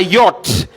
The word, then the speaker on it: yacht: is silent next it's a yacht the ch h are silent right in this How do we pronounce it?